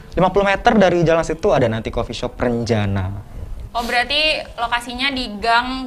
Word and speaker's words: Renjana: Bahkan kadang-kadang orang membacanya rencana coffee gitu. Benar kan? Bukan rencana, Renjana.